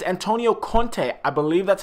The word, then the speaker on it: Conte: here speaking about a topic and it's Antonio Conte I believe that's how you say his name